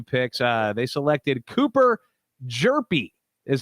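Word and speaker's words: Hjerpe: their first two picks uh they selected cooper jerpi is how it's pronounced everybody it's spelled h-j-e-r-p-e we know what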